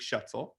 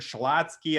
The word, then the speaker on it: Schuetzle: So Schuetzle. Schuetzle, like pretzel, yeah.